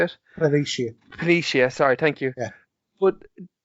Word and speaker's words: Planitia: Now, I know that the shipbuilding infrastructure was kind of dealt a crippling blow when they attacked the Utopia Plantive. Is that how you say it? Planitia, sorry, thank you.